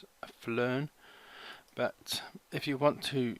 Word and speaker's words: PHLearn: person called pH learn I think you just pronounce it flarn but if you want